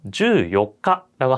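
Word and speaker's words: 十四日: 잘 혀 드시고요 그다음에 14일이나 24일 경우에는 요가라고 아까 했었죠 4일은 요가요 그래서 14일은 주 요가라고 한다는 거 24일도 마찬가지로 니즈 요가라고 해야 됩니다 그래서 주의해 주시고요 마지막으로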